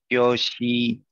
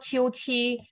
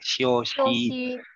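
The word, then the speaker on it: 休息: 休息。休息。休息。休息。 Right. Yes, it's not 休息. You don't push the air out. 休息。 Again. 休息。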